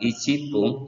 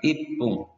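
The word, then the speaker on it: いっぷん: Angka 1 bukan diucapkan icipung tetapi ipung.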